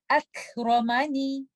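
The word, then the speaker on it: أكرمني: In this example, letter kaf is coming with a sukoon and we have to remember to give hums. And letter ra has a fatha. We will recite letter ra with tafkhim. Akramani, akramani.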